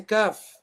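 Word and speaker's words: ك: Okay, so where you've got the makhraj of qaf, just before that.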